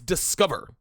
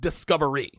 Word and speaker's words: Discover: it'd be like yo it is discover not discovery right like if my name is donoven I don't want you to call me de Noven or Donna Vaughn no call me Donovan pronounce their name correctly it's Discover Card not discovery hi yeah yeah one